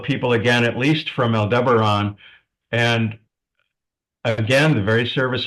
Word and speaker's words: Aldebaran: So, what are some common qualities of people who come from Aldebaran? Aldebaran. Some people call it Aldebaran.